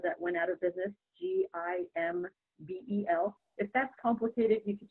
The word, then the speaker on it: Gimbel: And my last name is Gimbel, like the department store that went out of business, Gimbel.